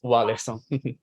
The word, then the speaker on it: Warleson: And we can it's Warleson.